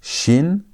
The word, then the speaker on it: shin: The pronunciations are different. This is shin. That is sin. That had s sound. This has sh sound as in the word shout.